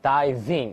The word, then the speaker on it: diving: 注意那个 v 的发音 diving into the sea.